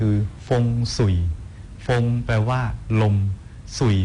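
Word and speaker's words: 風水: เป็น สิริมงคล จริง ๆ ฮวงจุ้ย เนี่ย เป็น ภาษา ใต้ จิ๋ว ถ้า หาก ออก เสียง เป็น ภาษา จีน กลาง คือ ฟง สุ่ย ฟง แปล ว่า ลม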